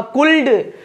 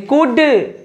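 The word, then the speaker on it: could: जब हम छोटे थे तो कुड को मैं बोलता था कुल्ड, कुल्ड, उल्ड, सुल्ड। तो ये जो प्रोनाउंसिएशन है बिल्कुल गलत है, यानी कुड, वुड, शुड, यहाँ पे शुड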